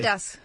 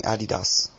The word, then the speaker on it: Adidas: Adidas. Adidas. Adidas? Who's this guy? There are two ways of pronouncing Adidas. Adidas. Adidas? Adidas? European way, Adidas. Adidas. What? Adidas. The American way, Adidas.